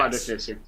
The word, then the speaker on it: Artificer: Artificer? Yes. Artificer.